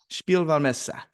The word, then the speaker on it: Spielwarenmesse: It's got this crazy German name that you have to be German to pronounce. It's Spielwarenmesse, something like that. Is that it? Yep. Spielwarenmesse, which is the Nuremberg Toy Fair.